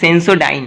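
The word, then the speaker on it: Sensodyne: কারণ ওটা সেন্স কি একটা বললে সেন্সোডাইন না কি বললা, ওটা সেন্সোডাইন।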